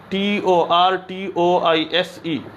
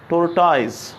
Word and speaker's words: tortoise: ही pronounce करते हैं, TORTOISE। समझ आया ना? तो this word is mostly pronounced by आवर friends, tortoise, but it is tortoise। कैसे पढ़ जाता है? tortoise or tortoise, but mostly tortoise।